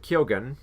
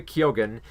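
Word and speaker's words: Keoghan: in the Fable men's uh Barry co uh kilgan I keep mispronouncing it Barry Keogan and the Banshees of an ashiron and Ki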